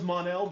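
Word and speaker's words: M'onel: just yeah this is it's an apostrophe oh it's possible yeah you it still sounds monel but you it just is spelled a little bit different yeah i like this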